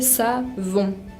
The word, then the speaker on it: savon: También la palabra savon, que es jabón, se dice savon. Es importante tratar de casi no pronunciar la N.